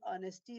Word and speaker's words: honesty: all the time foreign so it means the ha is silent here and honesty me the the stress is on o sound which is a vowel sound so there are some